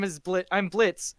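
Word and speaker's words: Blitzø: name is blit I'm Blitz the O is silent and then Loop's like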